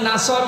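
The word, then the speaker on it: نصر: যদি মুখটা গোল না করে সিন দিয়ে উচ্চারণ করেন অর্থ হয়ে যাচ্ছে হে নবী যখন শকুন আসবে, ঈগল পাখি আসবে তখন আপনি বিজয় পাবেন।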